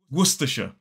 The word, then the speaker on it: Worcestershire: It is Worcestershire. 3 syllables, the stress falls on the first. And the trick to mastering this word is to kind of ignore most of the letters.